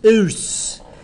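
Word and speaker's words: -ous: Not us, US, but O-U-S. it's spelled O-U-S. Oos.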